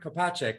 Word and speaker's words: Kopacek: episode i'm going to be um interviewing kopachek is that correct am i pronouncing it right yes you are all right